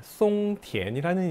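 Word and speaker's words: 松田: 등록합시다 라고 처음에는 이 송티엔이라는 이름으로 등록을 했어요. 일본어로는 마츠다라고 발음을 합니다. 근데 중국어 발음은 어떻게 읽어요? 송티엔이 되는 거예요.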